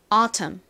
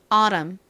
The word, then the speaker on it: autumn: T를 굴리지 않고 autumn, autumn. 좋습니다. 이제 미국식 발음으로 T에 살짝 버터를 발라서 발음해 볼까요? autumn, autumn.